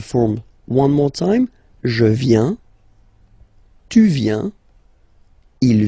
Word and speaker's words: viens: First form, je viens, final S not pronounced.